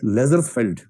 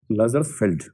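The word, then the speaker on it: Lazarsfeld: बी ए आर ई एल एस ओ एन बरसन दूसरा है लेजर फेल्ड एल ए जेड ए आर एस एफ ई एल डी लेजर फेल्ड और तीसरा है McAfee M सी पी एच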